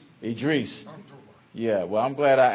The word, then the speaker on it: Idris: Make sure I pronounce that correctly. Idris.